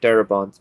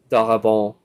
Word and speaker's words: Darabont: by frank darabont actually his name kind of sounds french i know it's pronounced frank darabont but it looks like it could have been pronounced frank dahabal but in any case